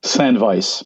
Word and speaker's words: Sandveiss: good doing good too do me a favor pronounce your band's name San Vice San Vice see yeah I